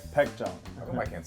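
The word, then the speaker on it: Baekjeong: How do you pronounce this name? Baekjong. Oh, I can't say that. Baekjong.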